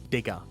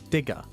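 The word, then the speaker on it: Digga: northern part of it is a word it's pronounced digger digger and that's not some weird racial terms that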